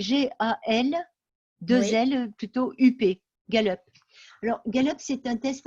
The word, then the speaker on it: Gallup: Alors, ça s'écrit G-A-L, 2L, plutôt U-P, Gallup.